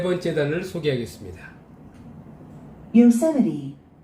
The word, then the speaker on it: Yosemite: Yosemite, Yosemite, Yosemite. 이음절이 오죠? Yosemite. Yosemite, Yosemite. 네, 미국에 있는 유명한 국립공원, 요세미티. 우리는 이걸 요세미티 국립공원이라 합니다. 요세미리. Yosemite, Yosemite.